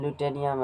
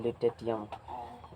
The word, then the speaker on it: lutetium: ठीक है, बोलने के क्रम ल्यूटेनियम है, ल्यूटेटियम।